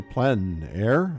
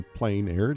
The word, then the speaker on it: plein air: The French say plein air, others say plein air, doesn't matter how you say it.